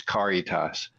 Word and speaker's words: Caritas: And I guess there's also maybe a Spanish pronunciation of it, but we go by the Latin pronunciation, which is Caritas.